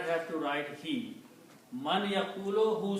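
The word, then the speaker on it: مَن يَقُولُ: And when you read this man with a ya, then the sound of man becomes unna, man yaqulu. In the recitation, you say man yaqulu, combining you to pronounce man yaqulu.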